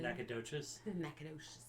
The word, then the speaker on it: Nacogdoches: both have a Nacogdoches but in Louisiana it's called NACA dish and in Texas it's not pronounce it correctly Nacogdoches and they both mean